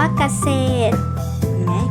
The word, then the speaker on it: เกษตร: ท้าย นะ คะ อ่ะ มี คำ ว่า เกษตร ไม่ ออก เสียง เรือ ที่ อยู่ คำ ท้าย นะ คะ คำ ว่า